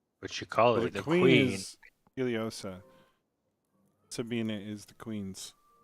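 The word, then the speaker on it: Ileosa: is Iliosa. Sabina is the queen's right hand. Got it. Sorry, taking notes. Queen Iliosa, we return this back to you from what was once taken.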